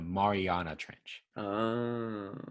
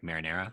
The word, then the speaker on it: Mariana Trench: marinara oh all right so how you say it is the mariana trench yeah so to me it kind of sounds like marinara but it's the mariana